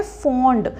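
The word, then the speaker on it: fond: Next ये है फॉन्ड। अब इसमें ध्यान रखिए यू नहीं है, तो इसकी जो प्रोनाउंसिएशन क्या है? फॉन्ड।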